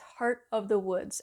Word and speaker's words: Heart of the Woods: So, I mispronounced this game when I did my last video. It's Heart of the Woods.